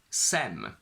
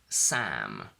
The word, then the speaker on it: Sam: for example call me sem which doesn't exist and my name is sam can is not pronounced